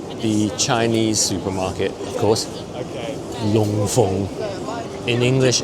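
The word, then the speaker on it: Loon Fung: Long Feng. In English, it's spelled Loon Feng Supermarket, but we pronounce it Long Feng in Cantonese.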